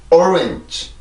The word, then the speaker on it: orange: 다시 한번 orange, orange, orange. 한 번 더 orange, orange, orange. 네, 그래서 이 단어는 오렌지, 오렌지 이런 발음이 아니라 orange 이렇게 발음을 하죠.